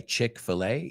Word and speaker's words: Chick-fil-A: Chick, like chicken, filet, Chick-fil-A.